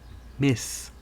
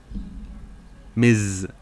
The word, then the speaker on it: Ms.: Marvel to something that commands excitement, because Ms. Marvel is a whack name that people don't even pronounce correctly. They call her Miss Marvel. I got a pop filter on my microphone, so Ms. isn't supposed to zzz as much.